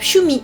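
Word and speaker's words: 趣味: Donc en deux syllabes, Shumi, Shumi avec un petit yu qui vient transformer le shi en shu.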